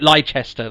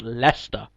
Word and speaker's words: Leicester: i am for instance when any americans say leicester and they say leicestershire or light or light lychester they say it is or like this here they just can't say it leicester it's very easy well it's not easy